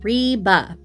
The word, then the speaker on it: Ribe: Um Reeba. Reeba. It's it's R I B, but it's spelled Reeba. Okay. Reeba with a rolled R.